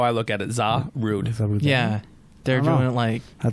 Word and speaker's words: Zarude: It looks like Zaruda. Zaruda. It's Zarude. Zarude? Zarude. That's how I look at it. Zarude.